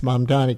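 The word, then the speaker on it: Mamdani: We should do a whole show on why so many people can't, even people of goodwill, which not everybody is, can't pronounce mom Donnie.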